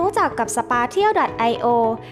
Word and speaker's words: Spatial: เร็ว มาก ยิ่ง ขึ้น หลาย คน อาจ จะ ยัง สงสัย เจ้า คำ นี้ อ่าน ว่า ยัง ไง กัน แน่ นะ ทั้ง Special สปา เชี่ยว แต่ ใน คลิป นี้ ขอ อ่าน ว่า สปา เที่ยว นะ คะ สภา เที่ยว ดอท ไอโอ